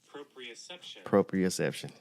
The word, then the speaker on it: proprioception: How you pronounce it again? Proprioception.